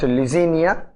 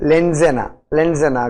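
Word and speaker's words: Leucaena: Crotalaria gentiana, Glycine max, Indigofera linifolia, Sesbania rostrata, Acacia nilotica, it is not Lysinia, it is Lenzena glauca and Mucuna.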